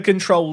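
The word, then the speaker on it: CTRL: skin I'm using is the control skin which is spelled like CT RL If you search FM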